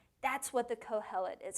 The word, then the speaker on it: Kohelet: Kohelet.